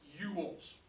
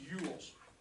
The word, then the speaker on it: Ewells: the group of people this is pronounced yules like you you yells all right all right this is pronounced yules and uh these are